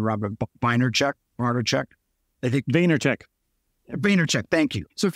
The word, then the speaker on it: Vaynerchuk: If there's human beings out there, so let's see, Gary, I'm going to pronounce his name, Robert Vaynerchuk.